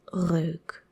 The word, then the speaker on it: reuk: And we pronounce it as reuk, reuk, reuk, reuk.